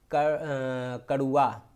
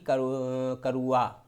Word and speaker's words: कड़ुआ: जैसे कि शब्द हम कहते हैं कड़ुआ, तो कड़ुआ शब्द होता है, ना कि करुआ, वा नहीं होता है।